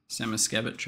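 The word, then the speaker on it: Samoskevich: Semeskevich, I think, is technically the correct pronunciation.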